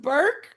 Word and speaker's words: Berky: It is Burky. It's pronounced Burke. I don't even say your name right. Oh, poor Berky.